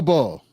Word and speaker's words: Ball: Is it Bell or Ball? It's Ball.